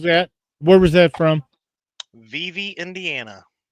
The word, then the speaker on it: Vevey: It's not Vive. Sure. No, I'm curious because maybe I've been pronouncing it wrong all these years. Well, I mean, I guess if you live in Indiana, it's probably Vive, but over here in Kentucky, it's Vevey. Vevey.